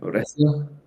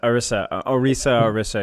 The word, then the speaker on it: Orisa: Although last night when I was playing with Valeria, I was going Orisia. Is it Orisia? Is that how you pronounce it? Orisa. Yeah.